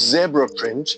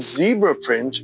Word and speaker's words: zebra: Pronounced zebra print in the UK and Australia, but zebra print in the United States and Canada, this pattern is characterized by its striking black and white stripes.